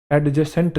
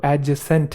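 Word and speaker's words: adjacent: जैसे एक शब्द होता है एडजेसेंट, एडजेसेंट नहीं है वो, एडजेसेंट है। क्या है? एडजेसेंट।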